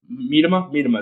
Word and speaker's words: Miedema: Ethan Miedema is how you pronounce it. Yeah, that's the big piece. Ethan Miedema.